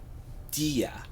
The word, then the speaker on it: Dige: I'm thinking of by there is a pronunciation Sally dia Sally dia okay it's by Sally dia spelled dige and man this song hit